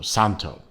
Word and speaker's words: Szanto: watch from a company called santo the z is silent as they say on their website so santo it's a small watch